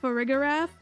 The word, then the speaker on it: Farigiraf: Now that we have Farigiraf, which, yes, that's the official pronunciation, unfortunately.